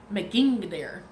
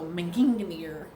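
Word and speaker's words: Megingjörð: So it is pronounced Megingdir. So it's spelled Mengingjardir. So Megingdir.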